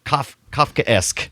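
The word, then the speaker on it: Kafkaesque: turn into a roach, Kafka-esque. Oh, I think is how you- Kafka-esque. Got it. Kafka-esque. Is that how you say it? Yeah, Kafka-esque. Kafka, and then you put the esque on there, meaning it's like esque,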